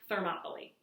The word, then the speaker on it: Thermopylae: in this place called Thermopylae. It's not spelled like Monopoly, the game, but it's pronounced that way, Thermopylae.